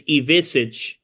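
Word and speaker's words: Ivišić: So it's Jacobson, it's Ivisic. Oh, I know Ivisic.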